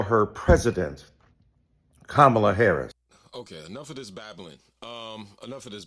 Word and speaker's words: Kamala: insisted upon misnaming mispronouncing kamla Harris do you call Melania Melania do you call Ivanka Ivan then call Kamala Kamala then call vice president Harris vice president kamla Harris and soon we pray